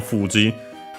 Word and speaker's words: Fuji: M Fuji uh Fuji is accent on the first motor.